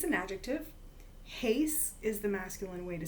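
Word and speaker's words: εἷς: Heis is the masculine way to say one in the nominative.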